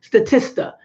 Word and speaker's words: Statista: Statista.